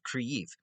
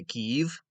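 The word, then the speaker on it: Kyiv: it's centered in the modern day city of creif which is the current capital of ukraine which i'm still trying to pronounce that word right i have gone i used to i used to say kiev because i owe kiev that's how i used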